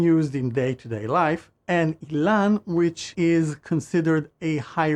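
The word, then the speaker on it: אילן: This is how you spell my name in Hebrew, and it is pronounced Ilan, similarly to Elon Musk.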